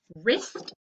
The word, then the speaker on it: wrist: right repeat after me wr wrist er what's the silent letter the w rh rhyme er what's